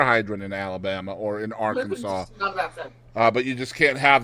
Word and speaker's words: Arkansas: Arkansas must be pronounced Arkansas. That is on the books. You can't say Arkansas or Arkansas, or it has to be Arkansas.